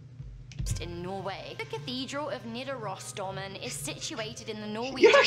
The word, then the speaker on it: Nidarosdomen: The cathedral of Nidarosdomen is situated in the Norwegian city of Trondheim. You actually said it right!